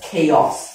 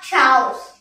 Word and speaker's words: chaos: during times of chaos this is pronounced as chaos not cows so this chaos that